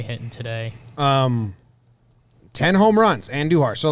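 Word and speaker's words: Andújar: And first of all, make sure you roll your R's when you say Andujar. Andujar. Miguel Andujar. Yeah. Andujar.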